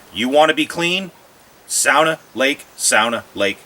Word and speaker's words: sauna: sauna house or um what some people call a sauna in finland it's pronounced sauna my family's from finland we've always called it a sauna so adjust that